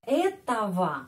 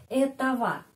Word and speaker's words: этого: Я вижу этого мужчину, ya, этого. Bandingkan di sini. Nominatif этот, akuzatif этого. Dan sudah ada pelajaran tentang pronunciation atau logatnya, pengucapan huruf G, ya, kadang-kadang diucapkan V.